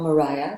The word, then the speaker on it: Maria: But Maria is also, or Mariah, depending on how you want to pronounce her name, is also a single woman, right?